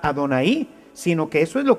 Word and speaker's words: Adonay: pues ellos tenían llave pero no pronuncian llave ellos cuando ven este programa van a pronunciar a don ahí porque esto es lo que ellos deben de decir con el paso del